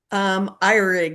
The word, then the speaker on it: Ehrig: No problem at all, because the correct German pronunciation is Ihrig or Ihrig.